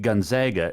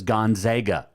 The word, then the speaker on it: Gonzaga: to pronounce the name it is gonzaga it's not gonzaga they're not the zogs it's gonzaga really they're not the z they're the bulldog right but it's still gonzaga i'll give you my